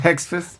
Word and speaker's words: Hegseth: How do you pronounce his name? The guy for the Hegseth. Hegseth.